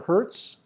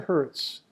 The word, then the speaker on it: Hertz: Frequency measured in cycles per second, or hertz, capital Hz. Oh, and by the way, Professor Hertz, his last name is spelled like the rental car company. Hertz Rent-A-Car, H-E-R-T-Z.